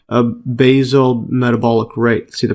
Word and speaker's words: basal: a constant internal environment, such as increasing its basal metabolic rate. See the pronunciation of this?